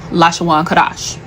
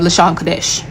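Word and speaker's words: לשון קודש: Now, what they spoke was Lashawan Kadash. It's a mispronunciation of Lashon Kadesh.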